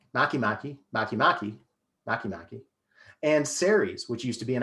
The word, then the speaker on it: Ceres: the correct spelling oh sorry you're uh it's c-e-r-e-s for the dwarf planet the dwarf planet is ceres a constellation is aries a-r-i-e-s so sorry that's